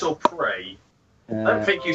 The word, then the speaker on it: Prix: Pricks or prey? I don't think you say it pricks, do you? No, it's pronounced Birmingham.